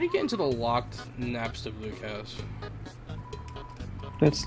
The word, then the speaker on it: Napstablook: to deal with because you saved me it's pronounced napstablook we don't have salute no you know man